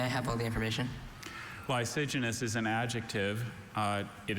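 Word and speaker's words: lysigenous: Are there any alternate pronunciations? Just the one. Lysenous. Lysenous.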